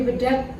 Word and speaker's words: Bedhag: Selamat datang, kita sedang berada di Kopi Bedak di Jember, yaitu UMKM khas Jember, dengan Bapak siapa? Doni. Dengan Bapak Doni selaku Owner Bedak, bukan Bedak. Oh, Bedak. Oh, Bedak. bacanya Bedak.